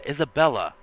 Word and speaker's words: Isabella: Oh, her name's Isabella. Like, come on. Does nobody know how to say her name properly? Yeah, Isabella.